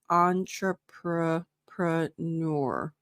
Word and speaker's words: entrepreneur: So it's think about it as it's from the French word. So you're gonna, to me, that always tells me like it's more schwa, more relaxed. Entrepreneur. So forget the E at the end.